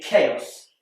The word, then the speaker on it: chaos: pronounce it and finally chaos this is spelled with a CH and CH is more commonly pronounced CH like in church but in chaos it's a c like in cat so you can see